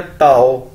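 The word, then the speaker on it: 到: पहुंच गया, तो वही ताओ। ताओ का मतलब है टू रीच। डी को चाइनीज के अंदर ते के तौर पर प्रोनाउंस किया जाता है, तो क्या बन गया ताओ, ताओ।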